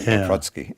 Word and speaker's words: Paprocki: side of Chicago with papaki pharmacy so we Americanized that and but Polish people always tell me that it's the proper pronunciation Watsky great so you are